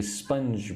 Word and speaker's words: sponge: will give them a sponge bath. Say the word sponge. Don't forget the J sound.